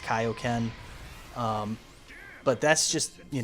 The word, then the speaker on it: Kaioken: dubs of the FUNimation ones they were saying KO Ken uh and that's just how I grew up on it you know I really don't care if they say KO Ken or Kaioken I know it's pronounced Kaioken um but that's just you know that's just